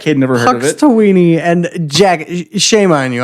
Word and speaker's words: Punxsutawney: Puxtawaney, Phil? Puxtawaney. Okay, guys. I've never seen Groundhog's Day. Say it right. Puxtowny Phil. Punxsutawney Phil.